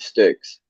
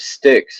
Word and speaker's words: Styx: name was oh no she's the daughter of sticks oh that's s-t-y-k-s I'm just I'm googling now